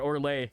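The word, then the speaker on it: Orlais: I I remember how they pronounce that. Orlay because it's not the S is silent.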